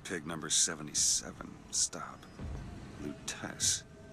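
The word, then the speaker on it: Lutece: Lutess. Lutess. Okay, that's how you pronounce it. Thought it was Lutice.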